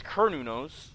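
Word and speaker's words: Cernunnos: the first volume, but they pronounce as Kernunos. So, I'm like, Oh, the mental breakdowns are great. I say pronounce it as you want, but I'm sticking with kernos cuz that's what they said.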